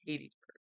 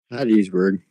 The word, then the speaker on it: Hattiesburg: and most likely be for including you guys in Hadesburg. How do you say it? Hadesburg or Hattiesburg? Hattiesburg.